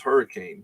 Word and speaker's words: Hurricane: The way it's spelled, it is hurricane, but it is pronounced hurricane, and we're going there next week for a cross country match.